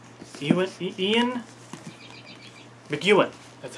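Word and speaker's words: McEwan: these two together uh Ian mowen or how do you say his name Ean Ian McAn that's how you say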